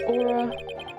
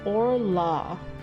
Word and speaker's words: Orla: The defendant Aura... Aura? Did they do typos? It's Orla, not Aura.